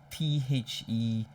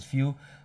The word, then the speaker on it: Phfew: Pheww, I think, but I pronounce it Phfew.